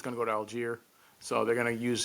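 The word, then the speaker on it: Allgeier: Tyler Algier. Did I pronounce his name right?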